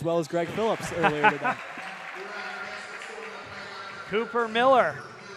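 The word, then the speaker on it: Mueller: as Greg Phillips Cooper Miller pronounced Miller spelled m-u-e-l-l-e-r another thing about Michael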